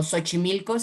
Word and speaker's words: Xochimilco: otro pero por ejemplo xochimilco se escribe con xy empieza con s y se pronuncia como si fuera s equis y es con